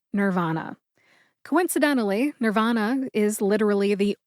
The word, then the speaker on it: Nirvana: 1990s grunge band Nirvana in the United States we pronounce the band's name Nirvana coincidentally Nirvana is literally